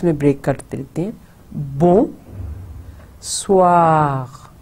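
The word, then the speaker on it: bonsoir: Break کرتے رہتے ہیں بون سوار. تو جو ایس او آئی آر کی ہے وہ سوا غ, پھر غ غین کی آواز نکلے گی.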